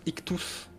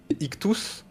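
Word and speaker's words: ΙΧΘΥΣ: pas le poisson c'est ça se prononce ictous en grec ancien ictous c'est acronyme de Jésus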